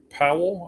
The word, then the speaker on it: Pawol: So we're talking about the female umpire, Jen Powell. I think it's still pronounced Powell, even though it's spelled Pawol.